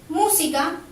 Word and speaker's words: música: Música, al separar en sílabas, última, penúltima, antepenúltima, se carga la voz en la antepenúltima sílaba, también lleva tilde.